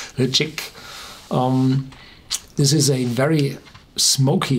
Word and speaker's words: Ledaig: And if you produce smoky whiskey, and the Ledaig, written Ledaig, pronounced slightly like Ledaig, this is a very smoky whiskey.